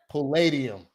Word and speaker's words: Palladium: that how you say it it pulled yeah Palladium Palladium yeah um so that was really cool